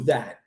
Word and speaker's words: that: Interessante também a omissão do último T na pronúncia, né? Ao invés de falarmos do that e darmos essa ênfase no T, a gente omite o som do T e pronunciamos but how do I do that? Viu? That. Engole o T.